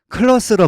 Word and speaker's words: clothes: 1세 2는 연결 모음입니다 클라스에서 th와 s는 소리가 만들어지는 위치 즉 종점이 같습니다 좋은 점이 같아 발음하기가 힘듭니다 이런 경우는 앞서리를 즉 th를 발음하지 않습니다 클라우드스가 아니라 편하게 클러스로 발음하세요 이렇게 해부의 s를 한번